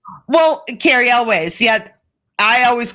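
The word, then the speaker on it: Cary Elwes: Wesley in The Princess Bride, who was also Carrie Elwes. Well, Carrie Elways. Yeah, I always called him Even Carrie names Elways. you pronounce wrong.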